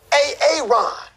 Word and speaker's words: Aaron: I said it like four times, so why didn't you say it the first time I said A-A-Ron? Because it's pronounced Aaron.